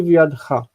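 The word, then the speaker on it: בְיָדְךָ: Natati v'yadcha. Natati v'yadcha. And there's no dagesh in the beit because the syllable is not closed.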